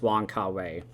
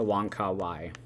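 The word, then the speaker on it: Wong Kar-wai: different criterion releases is wang kawaii a wonka y either pronunciation works i believe and i was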